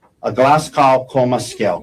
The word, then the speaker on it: Glasgow: And the neurological assessment tool, am I pronouncing that right? Glasgow Coma? Glasgow.